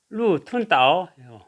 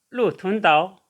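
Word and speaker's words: 鹿屯岛: 그래서 발음하면 루툰다오, 루툰다오.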